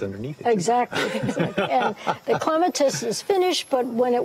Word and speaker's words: clematis: Are clematis bloom... Clematis, I say it wrong. It doesn't matter. It depends on what side of the pond you're on.